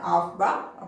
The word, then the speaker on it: Aufbau: Some of them it's pronounced it's an Aufbau.